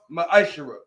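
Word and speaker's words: מעשר: It means 10th in Hebrew and is pronounced ma'ashera.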